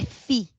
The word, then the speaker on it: φ: Fenômeno não é pi, tá? É fi. Se pronuncia fi.